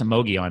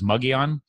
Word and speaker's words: Mogollon: I pronounced him it I pronounce emoji on is that that's wrong what you said is muggy on I if you want